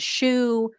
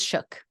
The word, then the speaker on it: Shough: you guys are thinking isn't it shoe isn't it shall no I looked it up supposedly it is shook that's how you pronounce his last name anyway um he is